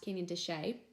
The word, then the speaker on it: Canyon de Chelly: near the Canyon de Chelly but it's actually pronounced Canyon de Chelly were the states of Utah Arizona Colorado and